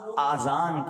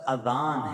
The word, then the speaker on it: اذان: بعض لوگ آذان کہتے ہیں, یاد رہے پہلے اذان کہتے کس طرح ہے, اس کا تلفظ سے بچ لیں. آذان اذن کی جمع ہے, اذن کہتے کان کو, یہ آذان نہیں ہے, یہ لفظ اذان ہے, ٹھیک ہے.